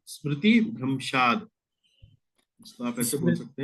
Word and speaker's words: स्मृतिभ्रंशात्: इसको और उच्चारण करिए गुरुजी। क्रोधात् भवति, क्रोधात् भवति, क्रोधाद् भवति सम्मोहा सम्मोहात् स्मृति विभ्रम स्मृति भ्रंशात् बुद्धिनाशो बुद्धिनाशात् प्रणश्यते।